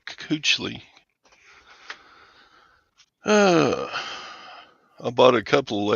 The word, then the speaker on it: Kuechly: Coochie? No, Coochly.